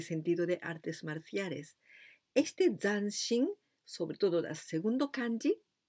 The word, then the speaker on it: zanshin: kárate de todos los éxitos la palabra es dancing dancing la pronunciación hay que cuidar porque si sabes que ir a ganar esto esa prosa contenten pronunciada ya sanz sin dancing esa zeta no se saca lengua tan sino